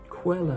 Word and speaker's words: Coelho: How do you go about pronouncing his name? Paulo Coelho. Coelho.